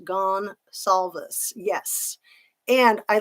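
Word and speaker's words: Goncalves: truth to every joke I think gone Calvis is pronounced gone solves yes and I like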